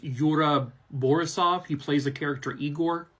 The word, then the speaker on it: Yura Borisov: kind of attention I believe his name is pronounced Yura borisov he plays a character eigor now his role